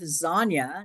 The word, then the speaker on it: Zonya: So hailing from Onsted, Michigan, remember the name rhymes with Zonya, so it's Lasagna, is the host of Zonya's